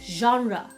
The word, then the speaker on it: genre: 这么的 G，而是比较 genre，这样才是正确的哦。